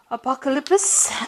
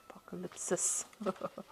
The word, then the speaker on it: Apocalypsis: the um some cards from the tarot apocalypse and um apocalypsis okay apocalypsis tarot um and let's see what's going on I have Mis been mispronouncing that word the whole day today okay let's see at